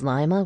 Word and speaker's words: Lima: For example, pronounce lima with a Spanish accent, Lima, and you'll recognize that the lima bean was named after Lima, the capital of Peru, its homeland.